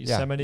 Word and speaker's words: Yosemite: Yosemite?